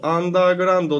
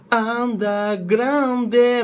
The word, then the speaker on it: アンダーグラウンド: ここ行きましょうアンダーグラウンドアンダーグラウンドなんですがまあ D はあまり発音せずですねアンダーグラウンドももう D は